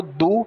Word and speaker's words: do: que você coloca o Du para fazer as perguntas então o d tem o som de D O O tem o som de u du o Du não está